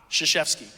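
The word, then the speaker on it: Krzyzewski: a man named Mike his last name is spelled k-r-z-y-z-e-w-s-k-i shashevsky it's phonetic it's great um so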